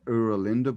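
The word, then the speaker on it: Oera Linda: Yeah, and then there's a book called the Uralinda book. I'm not sure if you've heard of it. No, I haven't. It's spelled Oeralinda book, and it's from it's an ancient Frisian book.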